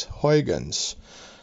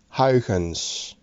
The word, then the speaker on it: Huygens: was me who was complaining about how you guys were pronounced the words quite purse and Hogan's so here you go this is the correct way of saying it it is gopis and Hogan's love your show this